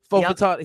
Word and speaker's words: Fautanu: I do know that Troy Fautanu, I believe that's Troy how you pronounce it. Fautanu.